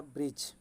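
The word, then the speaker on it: bridge: तापर आसला ब्रिज। ब्रिज रे पिला माने ब्रिज पढ़ला बेले डी उच्चारण आसुना। D letter उच्चारणटा आसुना।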